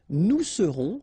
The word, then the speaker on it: nous serons: Je serai, tu seras, final S not pronounced, il sera, elle sera, nous serons, final S not pronounced, vous serez, a Z at the end, et serez, ils seront, final T not pronounced, elles seront.